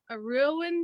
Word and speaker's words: Rouen: She's a mixture between a Rowan duck, which is like it's hard to explain. It's spelled Rouen, and then she's also part Pekin,